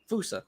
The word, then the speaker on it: fossa: Fusa, sorry. My bad. Yeah, it's spelled fossa, but it's pronounced fusa.